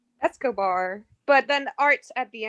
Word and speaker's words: Escobar: How do you say it? Isabela Cobart? Escobar.